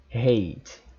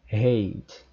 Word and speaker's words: hate: O T como se fosse o som da letra R em português, como a gente diz, por exemplo, cara, coroa, caramba. Esse R, né, pronunciado como em carestia, também pode ser pronunciado em inglês no lugar do T na palavra hate. Então você pode falar hate ou hate.